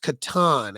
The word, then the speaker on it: Catan: Catan is pronounced Catan, actually, because it was a German word for farm.